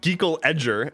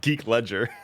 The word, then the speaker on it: Geek Ledger: You've got says, I used to be Geek Ledger everywhere, but everybody would pronounce it Geekle Edger and not Geek Ledger.